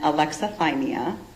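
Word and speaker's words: alexithymia: It's Can you really spell that? Yes sir. Uh Toronto and then aleximeia a l e x i t h y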